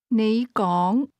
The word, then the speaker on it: 你講: Those words are both pronounced with a rising tone, but you begins at a low level and speak at a higher level. Say again, You speak. 你講 Try to say, I speak.